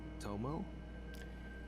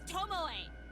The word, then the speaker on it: Tomoe: Surprised you're okay, Tomo? He sounds like me, trying to fucking pronounce her name. It's Tomoe. Shit.